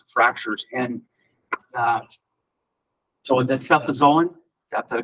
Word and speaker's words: cefazolin: And so the cefazolin, that's the correct pronunciation.